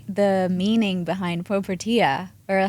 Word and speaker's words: Propertia: domain then um we said okay it is pronounced propera Bali right not propia Bali or anything propera Bali uh it was